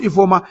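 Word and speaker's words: Ifeoma: That's how to write E for but it's pronounced E for that is why sometimes when we write we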